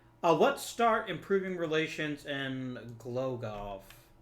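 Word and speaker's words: Głogów: Let's start improving relations in Glogov. I'm assuming it's Glogov. In East European countries, the W at the end is generally pronounced like a V.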